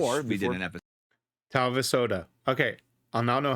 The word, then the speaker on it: Talvisota: Talvisota. Okay, I'll now know how to pronounce it when I get to that episode on Monday. Talvisota.